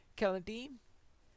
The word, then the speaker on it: Celondim: beginning of the episode Calladine I'm using a hard C on that and that is because Tolkien says that in the in his elvish languages the seas are always hard as in classical Latin in classical Latin these